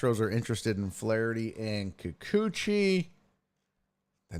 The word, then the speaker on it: Kikuchi: Astros getting Coochie. No Kikuchi. Kikuchi, not Coochie. You're saying it wrong.